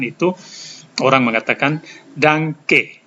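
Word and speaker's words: Danke: diucapkan itu orang mengatakan Danang ke Danang ke ada n dan K dibaca ng GK sudah diajarkan kali lalu Artinya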